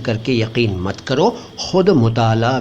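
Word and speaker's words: मुतालआ: भी कर लीजिए मुताल आमतौर पर इस शब्द को मुताल कह देते हैं अरबी से आया हुआ शब्द है सही उच्चारण मैंने आपको बता दिया अरबी वाला मुताल लेकिन आमतौर पर हम हिंदुस्तानी लोग मुताल बोलते हैं सिंपली मुताल इसका मतलब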